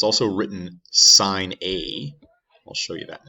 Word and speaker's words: sin: so it's also written sine a i'll show you that in a second so the way this is usually written is like this sine aids looks like it should be pronounced sin a and that's the button